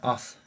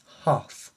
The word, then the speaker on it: Hoth: Princess Leia in her o I keep saying that in her o o no it's not o it's ho sorry about my little